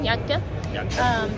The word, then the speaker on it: Yakta: Turns out that was pretty much the correct pronunciation, yakta.